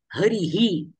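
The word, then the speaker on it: हरिः: इतर शब्दांचे समजावे आता उदाहरण म्हणून मी हरी शब्द जर घेतला आणि हरी शब्दाच्या नंतर विसर्ग दिला तर उच्चारण काय होईल शब्दाचं हरीही समजतंय हरीही गुरु बालक बालक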